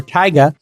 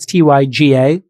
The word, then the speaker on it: Tyga: account okay everybody rapper tyga uh spelt t y g a kind of pronounced like tiger but tyga deleted his